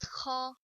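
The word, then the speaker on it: خ: Kha, actually, it's not exist in English, but mashallah, all my students could pronounce kha. Even they could pronounce ha, kha sometimes. Sometimes they pronounce ha, kha. So there is big difference between ha and kha.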